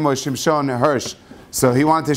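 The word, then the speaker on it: שמשון: And they say that Reb Shamshon Rafael Hirsch, his name really is supposed to be pronounced Shimshon.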